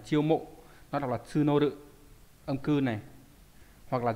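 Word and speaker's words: 募る: Nó đọc là tsunoru.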